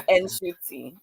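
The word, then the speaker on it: Ncuti: So it's Nshuti.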